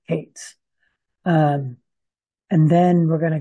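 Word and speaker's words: Kayats: So they're going to be introduced as the K-A-Y-A-T-S. And the Kates, I believe that's how you spell it, the Kates. I believe that's how we're going to say it, Kates.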